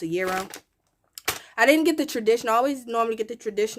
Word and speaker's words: gyro: a lot of times we be saying gyro and Jiro and stuff like that but I think it's actually pronounced a euro I didn't get the